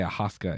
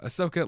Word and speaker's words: Ahsoka: with the Ahsoka I I used to say aaska and you were like shut up that's not how you say it um Ahsoka like I just I